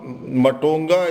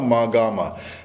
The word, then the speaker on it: Mahagama: Matonga is a Tibetan mispronunciation of Mahagama, and it is just next to Dharara.